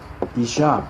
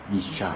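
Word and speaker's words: אִשָּׁה: 그러니까 남자 여자가 이슈 이샤 이렇게 돼요.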